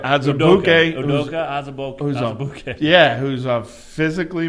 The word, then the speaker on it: Azubuike: All right, Azubuike.